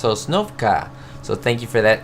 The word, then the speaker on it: Sosnovka: I've been saying Sosnovska if you hear the past videos, but I thank you for joining me guys and gals. It's pronounced Sosnovka.